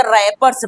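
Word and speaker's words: wrappers: और डब्ल्यू डब्ल्यू आर A double P ई आर एस को हम क्या पढ़ेंगे? रैपर्स पढ़ेंगे। क्या पढ़ेंगे? डब्ल्यू को हम क्या करते हैं? छोड़ देते हैं। साइलेंट हो जाएगा।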